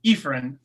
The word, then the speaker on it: Efren: It's Efren, long E. Efren, man, you got to put like That's all a good. you got to put like a line over that E.